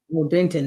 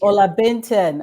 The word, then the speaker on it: Olabintan: Olabintan. Am I saying it right, Doc? Olabintan, that works. I take it. Olabintan.